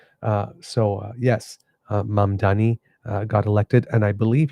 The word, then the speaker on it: Mamdani: desk to announce that the victory went to Mandami, I believe his name is.